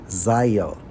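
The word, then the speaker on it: ζάω: Greek it's Zio right Strong's G 21 98 pronounced as Zio now according to outline of biblical usage two-way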